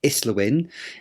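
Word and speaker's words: Islwyn: Neil Kinnick who's shadow spokesman for education and MP for Islawin in South Wales. And we know that's pronounced correctly because we looked it up actually.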